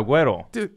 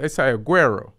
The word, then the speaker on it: Agüero: Yeah, Agüero. You Spanish, right? Yeah, Agüero. So we've been saying it wrong. So I say Aguero. Agüero. It's supposed to be so like. So y'all don't pronounce the G?